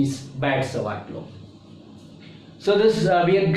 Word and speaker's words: Biot-Savart: You can pronounce it Biot-Savart or B.S.Savart, but normally the pronunciation is Biot-Savart law.